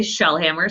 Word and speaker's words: Shellhammer: My name is Shellhammer, so it's exactly how it's spelled. That's like the compound word.